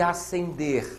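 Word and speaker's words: ascender: o Irã asender e asender olhem bem são dois homônimos homófonos não são parônimos a letra s não se pronuncia ali no segundo verbo acender acender isso aqui é um dígrafo diante da letra e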